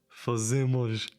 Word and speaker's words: fazemos: It's like an U. It's not fazemos, it's fazemos. Fazemos. No way. Let me check this. Fazemos.